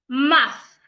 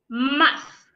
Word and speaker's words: math: to articulate that sound I place my tongue in between my upper teeth and my lower teeth and then I blow air I blow out air